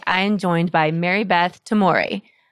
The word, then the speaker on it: Tomory: And today, I am joined by Marybeth Tomory. Did I say it right? Yes, Tomory? you did. Yes, it's did. like amore. Like amore.